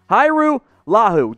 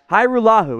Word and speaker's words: Hajrullahu: previous interview he did hiru lahu don't let the j confuse you that's that's in there i don't really know why it's it's a trick there's no j hyrule is how you pronounce